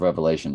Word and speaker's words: Revelation: And we know that you don't say it like that. You do when you're a beginner, but after a while you realize it's the book of Revelation, singular, not revelations.